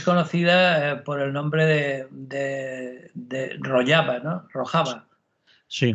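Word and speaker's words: Rojava: por el nombre de rollaba No rojaba sí rojaba escrito y rollaba pronunciado porque yo evidentemente y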